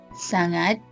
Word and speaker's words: sangat: when you use them how to pronounce banya and sang it generally it is pretty hard to pronounce the NY and NZ part in both ways however it is not impossible Banna is similar to NY in Kenya sonot is similar to an and G in hangar the easiest way is